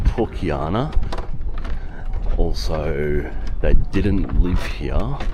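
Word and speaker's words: Pucllana: So I've already found out some interesting facts that I pronounce it wrong, of course. That's called Pukiana.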